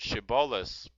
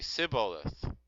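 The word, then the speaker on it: shibboleth: So they would ask them to pronounce the word shiboleth, and some would say siboleth, and and this is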